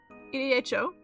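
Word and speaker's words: Edo: as an evening uh bell rings in uh EDHO.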